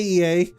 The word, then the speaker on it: Ea: in intention EA okay EA I believe is the pronunciation used when referring to our people though it is not entirely applicable given our present State you are welcome to